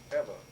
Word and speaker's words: Ewa: Corps Air Station at Eva, EWA, but they pronounce it like EVA in Hawaiian.